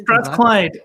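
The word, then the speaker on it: Strathclyde: And then was it sorry how do you pronounce the name of the university that you went to Strathclide is it Strath Clyde the place of useful learning so they say.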